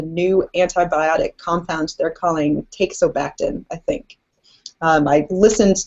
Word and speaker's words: teixobactin: So I think takes is the correct way to pronounce it, but if anyone disputes that, feel free to correct me.